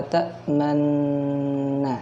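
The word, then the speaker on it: تَأْمَنَّا: Kata yang digaris bawahi yaitu la ta'manna ya. Nah, ini tergolong ismam. Ismam itu apa? Adalah isyarat 2 bibir ya, membentuk bulatan monyong ke depan.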